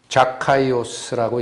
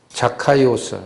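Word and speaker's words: Ζακχαῖος: 이름 삭개오, 원래 발음은 자카이오스라고 읽히는 단어가 쓰입니다. 자카이오스, 삭개오라는 말에 근원이 되는 것은 자카입니다.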